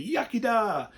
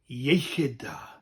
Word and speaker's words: iechyd da: But there are a few people that think it's funny to say yucky da. But the proper term is iechyd da. Iechyd da or iechyd da, depends on your accent.